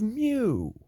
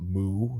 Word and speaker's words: Mu: the mythological island of Mew spelled muu pronounced Mew not moo not like a cow I believe it is